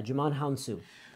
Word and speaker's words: Djimon Hounsou: you realizes this guy yeah you're gonna just pronounce his name huh his name is Djimon Honsou yeah Djimon Hounsou so he has crossed over he was in